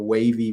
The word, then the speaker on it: WAYV: It's actually a play on words for Wavy, which is spelled WAYV.